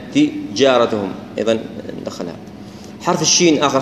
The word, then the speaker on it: تجارتهم: ناخذ مثال هنا لحرف الجيم قد تكون تجارتهم يعني ننطقها بتفخيم وايضا نظهرها ما نقول تيارتهم ولا تجارتهم لا تجارتهم ايضا ندخلها.